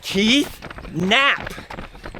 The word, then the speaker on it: Knapp: His name is Keith Knap. The K is silent, right, Keith?